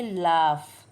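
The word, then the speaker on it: laugh: है अब अगला होगा एल ए यू जी एच सेे pronounce करेंगे लाफ इसकी स्पेलिंग बिल्कुल अलग है एल ए यू जी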